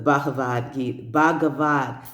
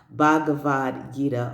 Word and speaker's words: Bhagavad Gita: The Bhagavad Gita, I've been saying it wrong. Bhagavad Gita.